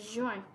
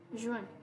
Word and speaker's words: juin: So basically, like in French, like in English, I mean, like the pronunciation of J is J, but in French it becomes J, like a G, you know, like J.